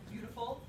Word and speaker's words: beautiful: in there beautiful um some people get surprised by the j in there they're like wait a second but because we don't have a y in beautiful but there is actually a sound in there even though there's no letter that tells you there's that sound it's one of those